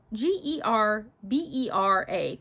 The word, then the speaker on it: gerbera: Gerbera I always say gerber daisy, but now that I'm looking all the letters in it, g e r b e r a, gerbera. Gerbera. Gerbera. I don't know. Maybe I've always said it wrong.